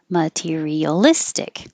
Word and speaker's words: materialistic: customary customary material material materialistic if a word ends in ic the syllable before is almost always stressed materialistic objectives you don't